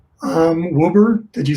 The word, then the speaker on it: Woeber: watch did i watch the spell the pronunciation of your last name um wilbur did you say wilbur i did i did